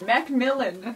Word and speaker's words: Macmillan: Macmillan is how you say it.